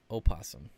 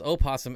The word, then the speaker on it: opossum: okay i believe you opossum oh man that was my hypothesis and i just got proven wrong gosh i thought it was opossum everywhere but the oh is silent and people tend to